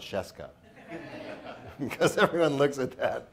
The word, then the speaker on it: Scieszka: So it rhymes with fresca and starts with SH. So everyone say Scieszka.